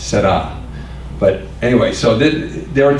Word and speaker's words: Que Sera Sera: Italians use a very soft R or a rolled R. We would say Que Sera Sera. An Italian would say, no, it's Sera.